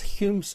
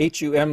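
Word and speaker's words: Hūm: And by the way, when I say, you see the H-U-M, lots of folks say hum, and I understand why. It's actually H-U with a little bar across the U, and it's pronounced Hume.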